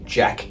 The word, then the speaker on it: JAK: medications in rheumatology called the jack inhibitors which is spelt j a k these medications that have